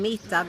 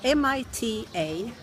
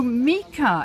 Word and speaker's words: Mita: Yes, I always been Mita because that's my How name. do you spell that? M-I-T-A. Oh, Mika. Mita. M-I-C-A. No, T. Oh, with a T.